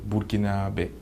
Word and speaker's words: burkinabè: contre le pays est en fait ça se prononce burkinabè donc c disons la combinaison des trois langues